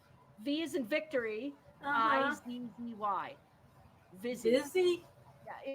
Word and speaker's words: Vizzy: It's called Vizzy. How do you spell that? V is in victory. Uh-huh. IZZY. Vizzy. Busy? Yeah, it sounds kind of Like fizzy with a V.